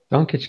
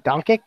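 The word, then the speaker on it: Dončić: Doncic could be the best player in the draft of all time.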